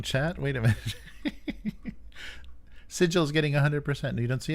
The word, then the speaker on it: Sigil: Seagull, says dude. I pronounce it seagull. And you should put a third option in there. Yeah. Yeah, more the J sounding G with a D sound, yeah.